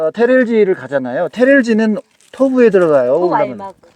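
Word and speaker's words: Төв аймаг: 도 알막. 뒤에 B 발음이 안 나버리네요.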